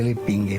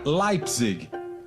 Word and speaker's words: Leipzig: Para a professora Simone, todo mundo pronunciava de forma errada o sobrenome de Adolfo. O correto seria Leipzig.